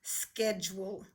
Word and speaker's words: schedule: that is called a schedule schedule see if you can do the word schedule okay here's the word schedule hey you busy makes the short e sound it's not following the basic rules sched you the e